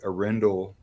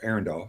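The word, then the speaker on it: Arendal: We're doing a kind of a pretty long comprehensive, because when I reviewed the Arendelle 1528s, or Arundel, sorry, pronounce it right.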